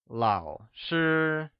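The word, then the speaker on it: 老师: with a falling rising tone while sure is pronounced with a high level tone let's hear you say Lao sure once again it's Lao sure wonderful let's review the two new professions we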